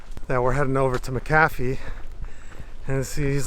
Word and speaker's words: McAfee: we're heading over to maafi and he's like why are you pronouncing it that way and I'm like what do you mean and he's like it's McAfee I'm like really he's like